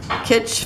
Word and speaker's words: Kitsch: Okay, I got Kitsch Flamingo. Guess that's how you pronounce it. It's like kitschy.